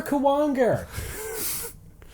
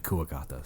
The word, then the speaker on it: Kuwagata: Boomer Kawanger. I always pronounce it Kawanger. Well, it's supposed to be Kuwagata.